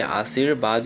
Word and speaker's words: आशीर्वाद: जब सो के ऊपर रो है तो रो का उच्चारण पहले हो जाएगा, तो आशीर्वाद हो गया, जबकि यहाँ पे आशीर्वाद, यहाँ पे इसका ये जो है सही हो जाएगा।